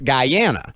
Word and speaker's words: Guyana: It's actually pronounced Guyana, not you.